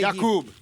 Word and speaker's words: Jakub: Jakub. Yeah. We've been calling him Jacob.